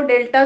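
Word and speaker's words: del: X plus H इज डेल्टा नहीं डेल, डेल पढ़ते हैं, प्रोनाउंसिएशन भी ध्यान रखें, ठीक है। बैकवर्ड को डेल पढ़ेंगे, फॉरवर्ड को डेल्टा, डेल एफ x plus minus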